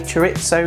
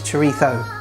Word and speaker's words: chorizo: say it like that, but that's how it's pronounced. You know, people say chorizo, chorizo. If you want to know the proper term how to pronounce it, it's chorizo.